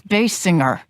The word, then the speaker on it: Basinger: However, later her look would evolve to resemble actress Kim Basinger. It's Bass Singer.